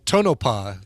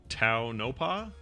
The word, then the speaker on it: Tonopah: gotten or no toe i think it's toe like in toe car okay so phonetically though that should be like a t-o-e or something t-o-e yeah yeah get